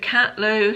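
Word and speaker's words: Catleugh: Luke Catlew, who does quite a lot of home decor content at the moment, I believe.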